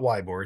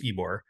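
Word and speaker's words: Ybor: called ebore City uh it's spelled YB R it's not wbore it's ebore and ebore city was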